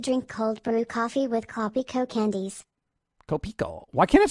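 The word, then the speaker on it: Kopiko: You got to get it right. Copico. Not being condescending. I'm just trying to tell you how to pronounce it properly.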